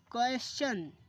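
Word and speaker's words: question: अगर student S के बाद टी आई ओ एन मिले तो टी का उच्चारण चा पढ़ते हैं।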